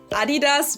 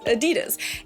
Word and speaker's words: Adidas: And honestly, to this day, I think that they sound like 2 completely different words. Adidas versus Adidas.